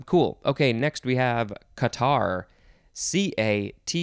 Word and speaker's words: catarrh: for that um cool okay next we have qatar c-a-t-a-r-r-h it's spelled not the typical way that we spell things here in english it is a qatar noun from the 15th century inflammation of a